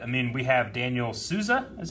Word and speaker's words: Sousa: and sad but I mean we have Daniel Sousa is how you say his last name I